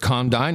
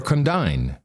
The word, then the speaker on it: condign: You could pronounce it condign or condign.